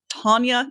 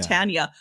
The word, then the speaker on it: Tonya: but that little thing it's tonya not tanya threw me off like